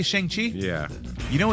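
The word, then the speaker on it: Shang-Chi: yet you haven't what you did you say shangi yeah you know it's called shangi that's what they all the newscasters say they go Shang Chi yeah it's shangi that's I thought it's Shang right yeah like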